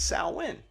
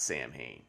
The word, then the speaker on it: Samhain: hurley who's irish says sal win so it just kind of adds to this whole vagueness but like for if you want to keep it real real pronunciation is salwin not samhain but if you're talking